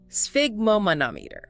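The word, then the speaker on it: sphygmomanometer: How do you even pronounce that? Let's break it down. Es figmeanometer. Sigmomanometer. Sphigomanometer.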